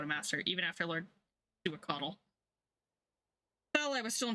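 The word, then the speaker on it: Xiuhcoatl: Some may also pronounce it as shuquaddle, but the more accurate pronunciation is closer to shuaquaddle.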